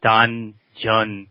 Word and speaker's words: Danjeon: It's a Korean word, and we pronounce it Danjeon.